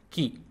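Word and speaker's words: कि: And it is pronounced like Ki in kick.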